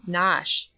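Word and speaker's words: Knotacent: toss the seat of the Lord not assent pronounced as if written nosh but it is not necessary to pronounce either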